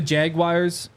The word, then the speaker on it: Jaguars: maybe Jaguars what do you say I say Jaguars what you think Jaguars Jaguars yeah what do you say jaguar Jag sounds Jaguar you said it like they doal say jaguar I know I'm saying it wrong but Jaguar Jaguar Jaguar get